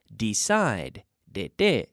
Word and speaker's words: decided: So this is a regular verb which receives, with that D sound ending, receives an extra syllable in the past. Decide, de, 2 syllables. Decide becomes decided, 3 syllables.